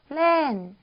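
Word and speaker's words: เล่น: 그래서 리을로 쓰겠습니다. 그리고 모음은 에죠. 길게 발음이 나는 에고 받침 모았어요. 어떤 친구 같죠? 너누라는 니은 받침이었어요. 그래서 발음은 렌이라고 해주시면 되죠. 근데 이 친구는 이성, 올라갔다가 떨어지는 이런 음을 가진 이성으로 발음을 해주시면 돼요. 그래서 렌 이렇게 발음을 해주시면 됩니다.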